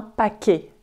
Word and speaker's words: paquet: paix a qu une taie mais on ne prononce pas le thé on dit un paquet et livrer un paquet s'est donné un paquet